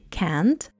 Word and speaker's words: can't: When you say can't, pronounce the vowel sound with a nice long "a" sound, as in cat. Stress the can't, not the following verb. Barely pronounce the sound t, or don't pronounce it at all.